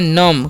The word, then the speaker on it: numb: हम क्या पढ़ते हैं, इसे हम लोग पढ़ते हैं नम। क्या पढ़ते हैं, नम पढ़ते हैं, नम्ब नहीं। ठीक है, यहाँ पर भी बी साइलेंट होता है।